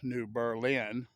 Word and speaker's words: New Berlin: And he called it New Berlin, or he would have pronounced it New Berlin, because he was of German descent.